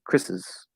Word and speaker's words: Chris's: In either case, the pronunciation would be Chris's, Chris's. Okay, just like this is Chris's. I'm doing exactly the same thing. I'm not actually saying that vowel. Maybe a little bit of a schwa, but I'm basically